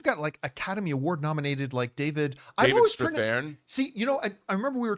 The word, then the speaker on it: Strathairn: you were mentioning David Strathairn, and it's like, I haven't told you this. My whole life, I've always called him David Strathairn, but it's Strathairn.